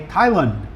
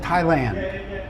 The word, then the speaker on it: Thailand: lot of people say Thailand and I've always said Thailand. I I pronounce the ah like hat and other people pronounce it Lund. Thailand.